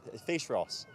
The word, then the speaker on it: Fèis Rois: Kaylee Trail what's the rest of it Rory face Ross and fish means Festival Ross means Russia which